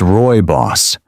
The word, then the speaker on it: rooibos: Rooibos, pronounced roy-boss, is a naturally caffeine-free tea with a smooth, slightly sweet taste.